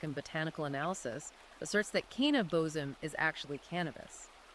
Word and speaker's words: kaneh bosm: And one of those ingredients is phonetically pronounced "kaneh bosm".